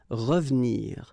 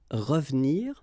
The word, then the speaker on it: revenir: So you've got re and then ve and nir, but then clearly you don't pronounce it, so you get revenir, revenir.